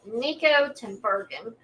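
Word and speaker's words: Niko Tinbergen: So back in the 1940s, a curious Dutch scientist named Nikico Timberen, that's how you pronounce it, he embarked on a remarkable journey that changed how we view the motivations behind our actions.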